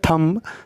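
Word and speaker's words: thumb: भी B silent है उसके बाद इसको बोलते हैं थम थम का मतलब होता है अंगूठा और ये बी यहां पे साइलेंट है उसके बाद है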